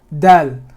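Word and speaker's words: دال: So this part is actually going to raise up and hit the palate, dal, somewhere behind your molar, somewhere behind this molar, dal, that part of the tongue is going to hit the palate. Okay, that's how you pronounce dal.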